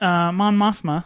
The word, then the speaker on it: Mon Mothma: Well, speaking of that, Mon Mothma, is that how you say her name?